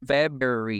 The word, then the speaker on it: February: So she spelled Feb, like F-E-B, Ru, like R-O-O, and then Feb, Ru, air, like the word air, and E, right? February.